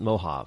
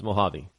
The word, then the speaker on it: Mojave: Rush limbo's real Linda if you sound it the way it's spelled it's mojavi mojavi mojavi desert uh